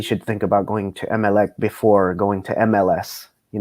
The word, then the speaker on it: Emelec: my opinion, he should think about going to MLEC before going to MLS. You know what I mean? Which is the team that he came from. MLEC. Or how do you pronounce it? Emelec.